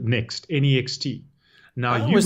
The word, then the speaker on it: NeXT: And interestingly, the very first violation was, I think it would be pronounced NEXT, but it's a NE and then uppercase XT, Yes.